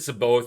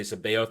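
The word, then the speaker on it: C'baoth: book and sabo sebaoth i always said so both i'm trying to reach her most to say sabae oath because uh zahn in his annotations pronounced it correctly for me so sebale we learned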